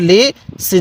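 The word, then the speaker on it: لسان: কিভাবে পড়তে হবে হ্যাঁ লাম জের লি সিন আলিফ জবর সা নুন আলিফ দুই জবর নান লিসান কিভাবে শিখবো লিসান এরপর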